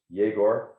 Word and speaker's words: Igor: So that card, Igor Gorbachev, pronounced Yegor Gorbachev.